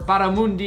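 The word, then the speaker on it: barramundi: today we've got Baja butter Mundi or baramundi if you want to pronounce it with a little bit of flair steak with creamy thyme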